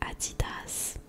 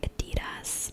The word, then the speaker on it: Adidas: to pronounce this because in French we say Adidas. So in English I would say Adidas, but I know that some people say Adidas. So like I really don't know.